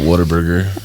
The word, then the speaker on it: Whataburger: You gotta have the twang, right? Like oh, what a burger! What a burger.